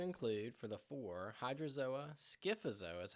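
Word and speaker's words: Scyphozoa: This is going to include for the four hydrozoa, skifzoa is how you say that cubizoa and anthsoa.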